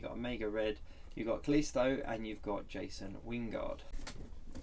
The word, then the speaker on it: Callisto: Callisto.